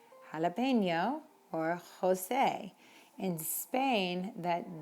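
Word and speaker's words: José: Jose in Spain is pronounced with a very, very almost in the back of your throat sound.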